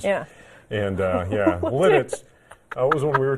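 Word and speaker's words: Lititz: It's called La Teats. Can I ask the producer, did she say that right? I don't know. That's how it's spelled. You got it right. It's spelled. No, it's Lidditz.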